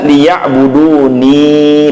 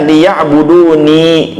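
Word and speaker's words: ليعبدوني: Sehingga kalau dinampakkan ya-nya maka dibaca liya'buduni, panjang dua harokat. Ya, sehingga kalau dinampakkan ya-nya maka dibacanya liya'buduni.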